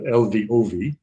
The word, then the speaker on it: Lvov: I'm sorry, yeah, LVOV.